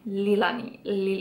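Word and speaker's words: Leahlani: Ale je to Lilani? Lilani.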